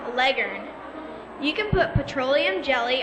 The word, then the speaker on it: Leghorn: chicken Pros know that Leghorn is actually pronounced Legend you can put petroleum